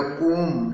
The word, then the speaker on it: comb: तौलिया थी, एंड अ कोम, COMB, B silent रहेगा, कोम, का में ओ की मात्रा और मा इसका प्रोनाउंसिएशन होगा, कोम।